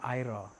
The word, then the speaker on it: Aira: Bukan sat ni ada Kampung Besar nama Kampung Aira Kuala Tig.